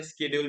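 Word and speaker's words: schedule: स्ेड्यूल तो हां तो इसको जो ये वाला वर्ड है स्ेड्यूल इसको आधे शेड्यूल भी बोलते हैं आधे स्ेड्यूल भी बोलते हैं। So both are correct.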